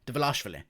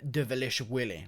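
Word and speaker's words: Dvalishvili: versus marab de velashvili that's how you say his name by the way the velashvili i don't know why so many people are pronouncing it so stupidly and retardedly it makes no sense marab the velocity it's so easy to pronounce why are they calling him devilish willy like it just doesn't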